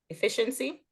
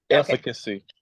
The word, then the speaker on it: efficacy: Efficiency? Yes. Yeah. Efficacy. Okay. Yeah, because I'm like, not efficiency.